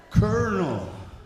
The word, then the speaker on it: colonel: English even has words that has letters that aren't even there. Colonel. Where's the R?